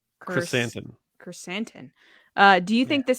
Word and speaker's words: Krrsantan: Krrsantan.